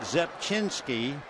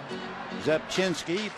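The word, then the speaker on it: Rzepczynski: But Mark Zepchinski, you just do not pronounce the R. In fact, I guess it's pretty impossible. Zepchinski, 6'1", 206-pounder out of Oak Lawn, Illinois.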